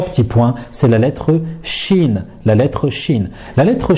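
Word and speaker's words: شين: on la prononce normalement Shin, Shin. Qu'est-ce qu'on va faire? On va prendre la langue, hein, le milieu de la langue à peu près, et on va venir le coller sur le palais.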